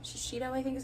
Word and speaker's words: Shiseido: I think it's Shiseido. Shiseido, I think is how you say it.